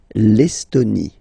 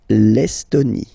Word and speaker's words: Estonie: L'Estonie, final E, not pronounced. L'Estonie. L'Estonie.